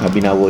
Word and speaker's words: Kabinawa: Oke guys, jadi kalau orang Bali ini namanya Kabinawo yang artinya adalah awesome.